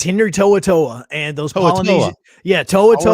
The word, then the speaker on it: To'o To'o: So To'oTo'o is how you say it. And it's very different than Tomatoa, which is a crab inside of Maui, inside of Moana.